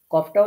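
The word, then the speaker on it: ك: আর কাফটা হচ্ছে গোড়া থেকে একটু আগে বাড়িয়ে। তাহলে এই যে এই জায়গাটা আপনারা দেখতে পাচ্ছেন এখানে গোড়া ছিল। এই যে ছোট্ট পয়েন্টটা এখানে আমরা কফ উচ্চারণ করেছি। আর এখন সেখান থেকে একটু বাড়িয়ে এই জায়গাটা থেকে আমরা উচ্চারণ করছি কাফ।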